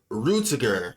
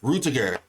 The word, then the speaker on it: Rutiger: Let me I got to I got to look up his name. How to pronounce his name? Uh characters. Stop. Uh, Rutiger. Rutiger. Rutiger. That's his name.